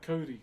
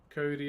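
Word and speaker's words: kauri: Wait, this is made out of Cody. This one here. K A U R I is how you spell it.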